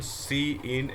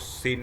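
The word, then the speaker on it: cin: So next we are having question number 124, the function C in and C out, don't read it as sin and scout, it's not the correct pronunciation।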